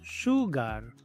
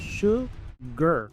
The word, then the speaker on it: sugar: Muchos pronuncian esta palabra sugar, pero aquí la a es muda, es sugar.